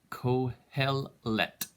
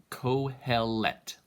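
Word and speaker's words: קהלת: It's the Kohelet. Kohelet. The Hebrew pronunciation is always difficult.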